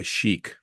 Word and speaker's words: Chic: C hi i c it was spelled chick which confused the heck out of me you know once again as a niney old it's like Mom that says chick it's pronounced Chic baby it's but but it says chick yo whoa whoa whoa